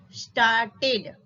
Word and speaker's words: started: Okay, we only pronounce the E if the verb ends in D or T.